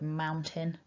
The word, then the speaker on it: mountain: It's ow and in. or I at the end. So maun, aun, tin, in. Fantastic. So now you know how to pronounce the word mountain in a really clear